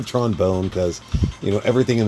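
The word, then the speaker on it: Tron Bonne: Mega Man Legends series Tron bone or Tron Bon however you want to pronounce it I I go Tron bone CU you know everything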